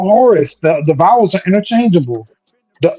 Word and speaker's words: Horus: Heru and hero are phonetically the same word. Heru is who you might call Horus. The vowels are interchangeable. The O and the U are interchangeable. Instead of Horus, it's Heru.